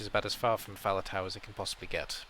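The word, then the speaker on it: Faletau: somebody said it from russian they called him fahaditi which is about as far from fowler tower as it can possibly get but that's how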